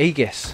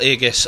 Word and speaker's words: Aegis: And that is a turnaround of the Aegis. Crystal Aegis, as some people would say, but it is in fact Aegis, so they're saying it wrong.